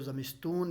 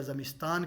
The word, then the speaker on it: زمستان: تو سردی کے موسم کو زمستون یا زمستان کہتے ہیں، تلفظ زمستون کرنا ہے اس کا، تو آپ لکھیں گے